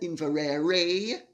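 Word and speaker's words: Inveraray: argyle family's castle in scotland in varrera castle it's spelt invarerae but it's pronounced invarera for those of you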